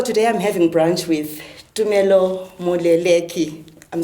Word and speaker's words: Tumelo Moleleki: So today I'm having brunch with Tumelo Moleleki. I'm saying it right. My Ndebele tongue, it will get used to it, but it's Tumelo Moleleki.